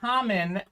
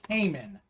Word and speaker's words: Kamen: about it now charlotte my name is common and people often pronounce it as caiman uh so i've been